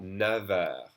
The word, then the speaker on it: neuf: But we pronounce that never. Never. Neuf. Never. That F is pronounced like a V when doing the liaison. Okay? Never with a V sound.